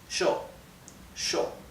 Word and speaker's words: yo: and the double L, instead of being pronounced y, okay, is pronounced like the English SH, sh. So this would be pronounced sho, okay?